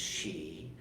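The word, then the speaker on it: sídhe: This is pronounced She, or the Eoshi, however you want to say it, and if you do the old Irish thing.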